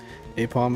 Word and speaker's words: Aipom: It's Apom. That's too good. So stupid. Is that AI? I can't read that, it's so small. AIPOM? That is how you say it, right? Or how you spell it, right? Now that I read it, it looks weird. Yeah. Apom it is.